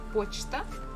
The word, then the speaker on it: почта: And the last one we have the word почта, post office, and here stress falls on O, that's why we have pronounced it as it is.